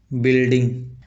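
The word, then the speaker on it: building: जैसे बिल्डिंग बिल्डिंग का spelling इस प्रकार से होता है किंतु पढ़ा इस प्रकार से जाता है। इसमें भी यू साइलेंट रहता है।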